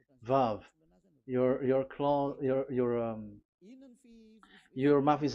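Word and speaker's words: וָו: We called it as Vav. Vav. Your claw, your mouth is like closed. Vav. So it's V as in Vogue.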